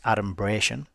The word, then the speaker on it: adumbration: And adumbration, and we've got a little pronunciation guide there, so we've got the stress on bray, so it's adumbration, is a noun, and